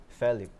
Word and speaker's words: Felip: Pero siguro po, kasi kung paano binibigkas ng parents ko yung name ko, it's FELIP.